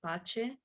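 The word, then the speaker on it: pace: there are other example if we look at the word peace it is very similar to the one in romanian pache so um seeing this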